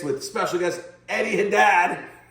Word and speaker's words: Haddad: Welcome to Girls and Guitars Part 6 with special guest Eddie Haddad. I said it right. It's not Hadid.